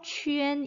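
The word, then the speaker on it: qun: 안녕 빠이빠이 해주셔야 된다고요 발음 역시 그대로 위로 읽어주셔서 취 n 이라고 읽으셔야 됩니다 자 3번 가볼게요 정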